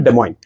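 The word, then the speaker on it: Des Moines: this uh iOS capital de moin de MO is d m oi n the pronunciation is French that's why it's called de moin okay um that is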